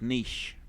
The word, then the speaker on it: niche: my god once again this is a french word and it's niche niche the c and the